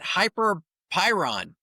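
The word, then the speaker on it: Hyperpyron: So, M A R CB at Hyper Pyron. Did I pronounce that right?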